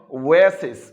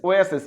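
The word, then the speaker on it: oasis: যেমন দেখো ওয়েসিস। ওয়েসিস মরুদ্যান। ও এ, ওয়াসিস নয়, ওয়েসিস।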